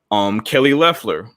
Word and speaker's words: Kelly Loeffler: Kelly Loeffler.